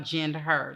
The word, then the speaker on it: GendHer: It's spelled GendH, capital H-E-R. So it's really about GendHer, like gender, but it's really about her or the female.